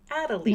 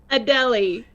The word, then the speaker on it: Adelie: I remember it now that you say that because I always want to say "A-da-lay," but it's A-deli. A-deli. Yes. Like you're going to a deli.